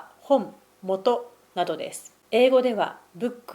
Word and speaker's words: 本: It is pronounced HON or MOTO In English, it is "Book".